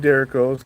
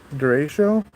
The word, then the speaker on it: derecho: I have seen some Derricos come through, or Derrichos. I forgot how people pronounce those. It's not Derrico. It's Derecho. No, I used to call them Derricos, but it's Derecho, I believe.